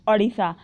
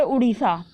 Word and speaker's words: ओडिशा: तो इसका नाम है ओडिशा, पहले इसको बोलते थे उड़ीसा, ठीक है। प्रोनाउंसिएशन मैटर्स अ लॉट, ठीक है। नाउ इसको बोलते हैं अब ओडिशा, ठीक है।